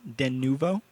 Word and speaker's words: Denuvo: thing earlier but yeah the official uh pronunciation denuvo Matt and I have this problem all the time we always say denovo Deno denu it's denuo denuvo yeah okay all right